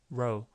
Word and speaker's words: row: 한 번씩 들어 보시면요 이거 L 이렇게 가볍습니다 L 발음은음 쭉 피니까 여기다 붙여서로 이렇게 low 이건 잡아 당기니까 로로로 row 미국 사람 목소리 한번 들어 보시겠습니까 따라해 보세요 low low 그다음에 다시 한번 low